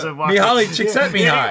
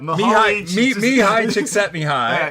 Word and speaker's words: Mihaly Csikszentmihalyi: And with the incredibly difficult last name to pronounce of the book that I read. Yeah, Mihaly Csikszentmihalyi. How did you do? Yeah, I can't. He just does it like just. Yeah. Mihaly Csikszentmihalyi.